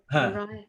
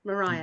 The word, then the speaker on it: Maria: Maria, is it Mariah? Mariah. Maria. It's Maria.